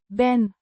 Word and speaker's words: ben: ben, Means am, pronounced ben, rhyming with. hen, It's the first person singular present tense form of the verb zijn, to be.